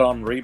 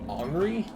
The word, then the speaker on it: Henri: Is that seriously how you pronounce the French version of Henry? Henri? Henri. What the fuck? E-N is pronounced en. French is a fucked up and twisted language.